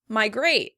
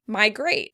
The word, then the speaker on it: migrate: Migrate, migrate. In American English, the word is stressed on the first syllable.